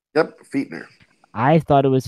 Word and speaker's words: Fichtner: His name is pronounced Fichtner. Yep, Fichtner. I thought it was Fitchner.